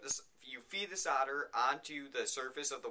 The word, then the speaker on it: solder: have this thing called solder spelled s-o-l-d-e-r the L is silent and what that is